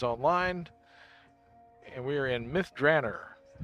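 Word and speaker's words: Myth Drannor: and we are in Myth Dranner famously created by Ed Greenwood the DDO world and that's the way he pronounces it. Some people call it Bith Draor.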